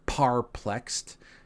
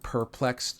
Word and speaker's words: perplexed: As you can see here, I said parplexed instead of perplexed just to see what, or parpluxed, just to see what it does, and it heard as arplexed.